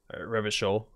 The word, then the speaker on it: Revachol: Revachol. Good. I know how to pronounce the city now. If it doesn't rhyme, you're not pronouncing it right.